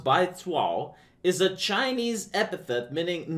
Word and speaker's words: Baizuo: going to find this by Zoo pronounced by Tao is a Chinese epithet